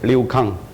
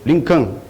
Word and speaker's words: Liu Kang: The correct pronunciation is Liu Kang. But he trying to repeat my name. He said, "Lincoln," you see?